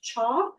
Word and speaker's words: CHA: Um, it is often abbreviated CHA or pronounced CHAW. Um, it is one of the uh it's one part of the community health improvement process. Um, and a CHAW helps us learn about